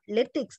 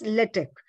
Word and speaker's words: LaTeX: it latex i mean correct pronunciation is not litex it is litec right x is always silent let it user is